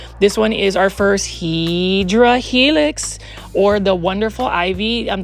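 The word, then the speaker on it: Hedera helix: I mean, you can see um this one is our first Hedra Helix or the wonderful ivy. Um the correct way to say it is Hideera Helix.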